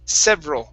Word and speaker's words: several: like the word average we want to take off that e so instead several it's several several several several good good